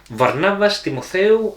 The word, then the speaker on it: Varnavas Timotheou: And this game is designed by, and I'm going to ask my trusty assistant over here to pronounce his Greek with his Greek accent. Varnavas Timotheou and Vangelis Bagiartakis.